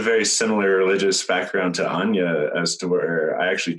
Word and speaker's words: Anja: It's just Anja. I spell it Anja. It's pronounced Anja because my mama is German, and so J's in the German language is pronounced with a ya.